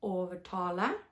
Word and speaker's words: overtale: znika totalnie, tylko on jest wymawiany właśnie tak jak angielskie R w very.